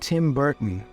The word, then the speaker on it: Burton: Martin Steve Martin bill clayti Bill Clinton and Tim Burton Tim Burton here's a fun treat her for